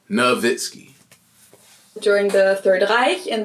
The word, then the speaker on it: Nowitzki: Now I started to make sense of why certain words are pronounced with a V. I'm thinking it's a W. So my bad, it's Dirk Nowitzki, bro. Nowitzki.